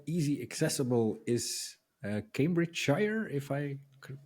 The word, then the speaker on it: Cambridgeshire: Then maybe to finalize the interview, how easy accessible is Cambridgeshire, if I could pronounce that correctly? He even said it with a bit of a twang as well, which I enjoyed. Cambridgeshire.